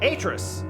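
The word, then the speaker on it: Atrus: But I have been saying Atris wrong. Atris, damn it.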